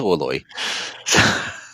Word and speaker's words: Orloj: And J's are always a bit scary when you see them in a name cuz Europeans have like 20 different ways of pronouncing a J. I think it's Oloy.